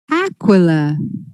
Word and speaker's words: Aquila: Well, the next company is Rodrigo, CEO of Aquila or Aquila? How do we pronounce it? Aquila.